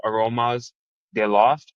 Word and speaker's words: Aromas de Loft: He is the owner and founder of Aromas de Loft. Is that how you pronounce it?